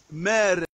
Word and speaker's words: mère: That is, it's written mère, mère, like how I pronounce this word, la mère, la mère.